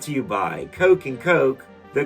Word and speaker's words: Koch: Brought to you by Coke and Coke, the Koch brothers. I thought they pronounced their name with an ah sound, not an oh sound.